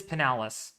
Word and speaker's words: Pinellas: All right, it is Pinellas.